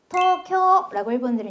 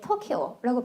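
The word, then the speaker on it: 東京: 오사카라고 발음하고 어사카 어사카라고 하고 도쿄도 사실은 토 으 쿄 으라고 쓰고 끌어 줘요. 토쿄라고 얘기합니다. 그래서 영어를 모국어 하는 사람들이 가끔 도쿄 얘기할 때 토키오라고 발언하는게 이렇게 쓰기 때문이에요. 자 그러면 우리는 오사카에 가려고 생각하고 있어 볼게요.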